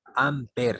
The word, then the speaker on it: ampere: Ampere se llama. Ampere se escribe, ¿ya? Se escribe ampere y se pronuncia ampere.